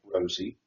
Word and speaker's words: Rosa: He introduced us to Ray and his wife Rosa, pronounc Rosie, and their son Ted.